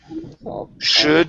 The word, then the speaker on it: should: Okay, let's go to the word should here. Instead of shoe with an oo sound, it's should.